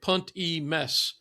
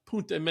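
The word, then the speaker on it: Punt e Mes: P U n it looks like punt e but punt me is how it's pronounced.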